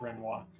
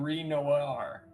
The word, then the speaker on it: Renoir: Yeah, it's Renoir. Renoir. Renoir. Renoi. Yeah. American requires me to pronounce every letter literally, though. Well, then you would be saying Ren Noir.